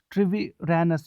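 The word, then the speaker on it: Treviranus: एक बार फिर थोड़ा सा डिफिकल्ट हो जाएगा इसको प्रोनाउंस करना। ट्रिवे ट्रिवी ट्रिवीरैनस, जी हाँ अच्छी तरह से मैंने प्रोनाउंस किया, थैंक यू।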